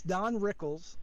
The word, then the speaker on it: Rickles: can't I can't say it right it's it's Don Rickles yeah yeah yeah okay he was born in